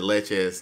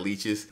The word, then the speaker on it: leches: The only thing I don't like about that bar is you pronounce it leches, not leeches, but it looked like leeches.